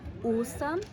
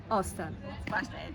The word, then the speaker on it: Ostern: slawischen Bereich, und zwar, dass das O falsch ausgesprochen wird. Also in einem Wort wie Hallo oder Ostern würde es als Hallo oder Ostern ausgesprochen werden. Nochmal die richtige Variante: Hallo und nicht Hallo und Ostern und nicht Ostern.